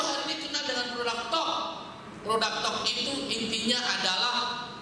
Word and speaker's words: TOK: Jangan salah baca, di Jawa Tengah ada yang baca produk talak, dikira bedak. Nah ini punya talak, gitu enggak? Ini bacanya jangan produk talak, produk TOK.